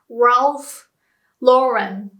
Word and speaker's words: Ralph Lauren: This one is an awful word to pronounce for Japanese people. So, Ralph Lauren. Too many R and L next to each other. Ralph Lauren. And Japanese people would just pronounce everything with R and call it Ralph Lauren.